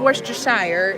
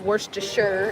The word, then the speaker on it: Worcestershire: you say okay so it's not Worcestershire it's worse to sure is what most people